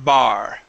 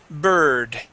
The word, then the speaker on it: bird: Here you are saying bar. Bard. It is burr. Bird. Bar.